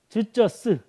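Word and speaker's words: 只這是: 즈쩌스. 즈쩌스. 다 저 이제 중국어로 발음한 거예요.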